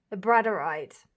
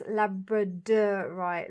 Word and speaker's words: labradorite: I was told in the comments of the last video that is that how you pronounce it? The bradite. But actually, it's labradorite.